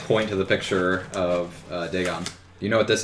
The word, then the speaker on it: Dagon: Pronounced Dagon.